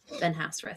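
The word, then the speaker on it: Benhasrath: And it's spelled B N Dash H A S R A T H. Benhas.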